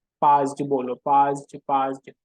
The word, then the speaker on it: PAASD: Spelling थोड़ी अजीब सी है लेकिन याद तो करना ही है। पाज्ड बोलो, पाज्ड पाज्ड।